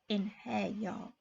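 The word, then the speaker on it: Einherjar: You're one of the Inherjar now. He pronounced the word like Inherjar.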